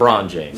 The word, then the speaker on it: LeBron James: way it's spelled, I thought it was French. No, it's LeBron James.